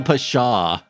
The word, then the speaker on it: pshaw: So the P is silent then.